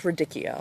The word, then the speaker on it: radicchio: up now these i don't know how to pronounce it radicchio ridic radiccio it's radicchio okay it's ridic it is just ridiculous um